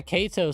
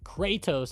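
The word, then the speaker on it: Kratos: Yeah, Kato, though. Kattos, I should say. Sorry, I was I was pronouncing the stock ticker, but I don't want that to confuse anybody.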